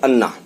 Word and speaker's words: Annan: The Anand लिखा है ANNAN but its pronunciation actual अन्ना, right. अन्ना जो बड़े लोग होते हैं, बड़े भाई लोग होते हैं, उनको साउथ में अन्ना कहा जाता है। तो अनन यहाँ स्पेलिंग है और अन्ना वैसे इसका प्रोनाउंसिएशन आप करिए।